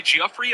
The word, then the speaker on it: Giuffre: About a dozen Epstein victims, including Virginia Giuffre, I believe is how you say that's brother, were seated in the front row of the gallery as the vote got underway.